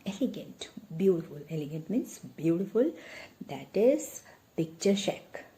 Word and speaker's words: picturesque: Tappa took a turn and there stood before him an elegant means beautiful, that is picture-shack. It's not picturesque. Side by side, try to learn the pronunciation also. That is picture-shack.